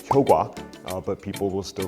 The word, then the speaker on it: 효과: So, words like 효과, which, should be pronounced 효과, but people will still say 효과, which is acceptable according to the institute.